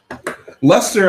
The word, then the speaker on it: Leicester: though I whoa even I struggle with that Lester I didn't know about only because of the